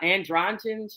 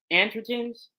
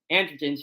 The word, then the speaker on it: androgens: okay and so when you have those andr andrens or androgens I guess it's yeah okay androgens y'all know me sometimes I mispronounce things but when you have that increased